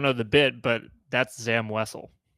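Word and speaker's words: Zam Wesell: Uh, I don't know the bit, but that's Zam Wessel.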